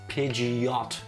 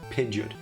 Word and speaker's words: Pidgeot: I'm pretty sure it's actually pronounced Pidgeot and not Pidgeot. Really? Really? I've always said Pidgeot.